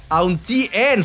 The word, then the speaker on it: Auntie: Kalau gua kan bacanya onti ya. Oh, onti. Salah aneh ya. Salah ya? Auntie. Oke oke oke.